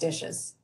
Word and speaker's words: DHSES: more commonly referred to by the acronym dhses pronounced dishes this presentation and the